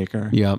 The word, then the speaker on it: Acre: in the cities of Damascus Jerusalem and acre pronounced AER in the game some some some some of them yeah some of them say acre but you're given very little information about the